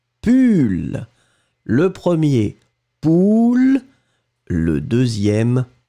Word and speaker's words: pull: Et le deuxième, on le prononce u, pull.